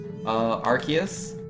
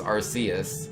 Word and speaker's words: Arceus: game I'm here saying the first way you said it is the correct way to say Arceus oh is it I thought it was Arceus so I've always said Arceus but I'm told it's Arceus no how about a